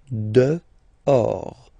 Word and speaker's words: dehors: Okay, so remember final S not pronounced, and then this H in French doesn't exist phonetically, so you don't pronounce it. Dehors.